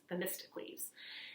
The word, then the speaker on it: Themistocles: So if you're wondering, this is a very difficult word to pronounce. It's Themistocles.